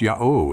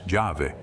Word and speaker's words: Yahweh: that the Hebrew Tetragrammaton, or mystic name, is pronounced Yahweh and signifies he that is and shall be. Diodorus states that the same 4 letters were pronounced by the Samaritans as thus Jahve, by the Jews as Yahweh.